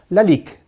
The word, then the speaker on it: Lalique: a little bit of perfume very easy to pronounce Lalique so let me do it quickly for you